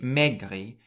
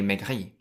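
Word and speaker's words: maigri: A little tip in French pronunciation is that you should always emphasize the last syllable in every word. And so in megri, you stress the last syllable rather than the first syllable. So you don't say megri, you say megri meg.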